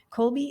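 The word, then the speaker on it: Kolbe: So, yes, I'm a certified Colby consultant. Colby is spelled K O LBE if you're looking it up.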